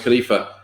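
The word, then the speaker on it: خليفة: word for human beings is khalifa which is pronounced khalifa which is a unisex word name and depending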